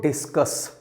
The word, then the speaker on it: discus: बोला जाएगा इस वर्ड को डिस्कस, लेकिन स्पेलिंग इसकी DISCUSS नहीं है, सिंगल एस है।